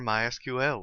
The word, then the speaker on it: MySQL: as you can tell I've been calling it MySQL that is the correct pronunciation however it is also commonly called my